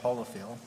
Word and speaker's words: Holofield: Pronounce my last name Holofield. Unless you live up north, then it's Holofield. Down south, it's pronounced Holofield. So. Yeah, because you're holy. But I'll answer you. Holofield. That's cool. Holofield. Yeah, he's holy. Holofield. Holy, just remember holy.